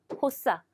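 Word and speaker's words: 発作: 혹은요, 상급에도 많이 나왔겠지만 이 같은 경우에 호사, 발작. 예, 시험에는 호단이나 호소쿠가 1급이 많이 나오겠지만 이 세 가지가 다 뭡니까? 호수로 발음되는 단어이기 때문에 체크해 두시기 바랍니다.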